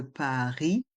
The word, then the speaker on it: Paris: Et dans le mot Paris, le S est muet. C'est au nord, c'est au sud de Paris.